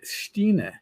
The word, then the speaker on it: Stein: But my real last name is pronounced Stine, but it looks like Stein. I've been called Stein my whole life, or Steiny, or Steeny, or Stainy, and I just whatever.